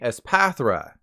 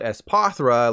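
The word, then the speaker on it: Espathra: Pokemon regardless you should summon the word telepath in your mind when saying s pathra don't do what I did and call it s pothura like palmy I mean it doesn't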